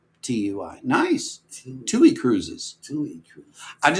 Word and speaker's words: TUI: I've been saying TUI Cruises, and Lori, I stand corrected. TUI is how I pronounce TUI.